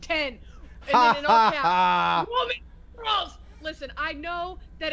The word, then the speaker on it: iPhone X: in the chat right now iPhone X is pronounced 10 listen I know that it's supposed to be